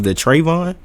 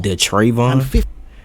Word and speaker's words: Draven: Did you say his name was Dravon? and arrested four teenagers, including 15-year-old Dravon Mitchell. Draven. Yeah.